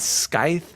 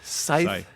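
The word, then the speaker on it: scythe: got this is it sky is that the right word is that how you pronounce it scy not sky sky scyth take the C out um it's pretty spooky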